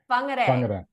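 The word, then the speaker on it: Whangārei: Fungare. Yeah. So, the wh are we? So, wh in moldi, yeah, in New Zealand is pronounced fa.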